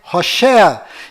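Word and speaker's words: Hoshea: mudou para Josué mas a pronúncia correta de Oséias é Rocher e quando Moisés mudou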